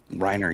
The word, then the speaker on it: Reiner: Reiner, yeah.